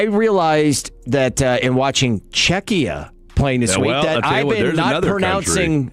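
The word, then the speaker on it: Czechia: Uh I realized that uh in watching Czecha playing this week that I haven't been pronouncing I have not been pronouncing the name correctly for the last 3 weeks calling it Chetchia.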